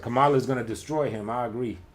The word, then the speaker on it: Kamala: You said Kamala's gonna destroy him. I agree. I'm reading back what you said earlier. Kamala, boy. That's how you say it. Oh, okay. Kamala. I thought it was Kamala.